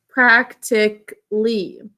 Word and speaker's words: practically: We're going to make the A totally silent because we tend to pronounce it practically.